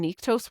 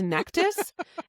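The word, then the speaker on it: Nektas: And I'm like, "Oh my god, we've been pronouncing Niktose wrong this whole time. It's Nectus."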